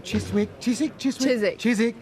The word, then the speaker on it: Chiswick: hit an active virgin Chiswick silent W I'm a local now